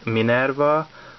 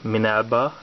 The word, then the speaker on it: Minerva: But in the Super God Master Force cartoon, they were called Minerva, or Minelba, if you prefer the Japanese pronunciation, and Go Shooter, or Shuta.